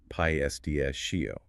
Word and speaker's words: pistachio: So when you hear or say the word pistachio, you're likely to remember that whole complex anecdote which helps you remember the correct rhythm. Pests shio.